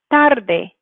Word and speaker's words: tarde: Next one for número cuatro, we have tarde. Tarde. You can hear how that first syllable is the stressed one.